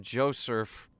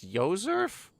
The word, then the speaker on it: Josef: he's joel's father josef i was calling him joseph it's yoserf pronunciations are funny dad this